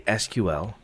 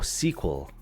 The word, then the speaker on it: SQL: seems weird Mr nibble uh so you say SQL which is does make sense and then you say I did you say it like really fast oh sequel sequel so you say sequel you know was